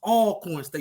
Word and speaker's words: Alcorn State: it's first of all it's pronounced all coins State University always all corn you can't be getting that wrong on that TV speaking on